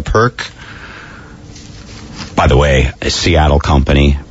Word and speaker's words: Pirq: i RQ p i RQ sounds like a perk by the way Seattle